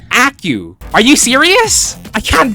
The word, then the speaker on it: Acu: Also, apparently ACU isn't called ACU. It's pronounced au.